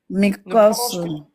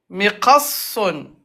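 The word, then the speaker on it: مقص: Mikosun. Ne prononce pas. Mikosun. Miqassun. Mikosun. Miqassun. T'appuies sur sad. Ok. Mikosun. Non. Miqassun. C'est sad où il faut appuyer.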